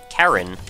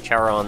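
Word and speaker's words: Charon: was popularized uh and I'm told that the actual pronunciation is Karen which you know that's totally cool I might just say chaon though out of habit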